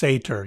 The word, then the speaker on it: satyr: It is pronounced Sater, you're right.